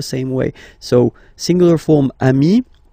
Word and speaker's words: ami: So singular form, ami. Plural form, you add this S, but it's ami as well.